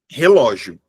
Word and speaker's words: relógio: Essa palavra, ela é uma palavra paroxítona terminada em ditongo. Beleza? Eu tenho uma paroxítona eh terminada em ditongo crescente. Tudo bem? Veja só você que se eu mudar o local do assento, relógio, relógio. Se eu mudar o lugar do acento, a sílaba mais forte também muda de lugar, percebe?